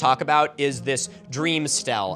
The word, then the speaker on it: stele: about is this dream stele. Am I saying that right? Stele? It’s one of the things I've only ever really seen written. Stellalauh. Stelly, Stellaie. Stella? St- Mm, probably not that. (Robot woman): Stee-ull (Milo): So again, this